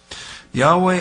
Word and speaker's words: Yahweh: that's why HWH Yahweh Jehovah we want to pronounce it that way Yahweh our God that's a low heme that is